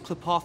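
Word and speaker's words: Qlipoth: Oh, it's pronounced Klipoth.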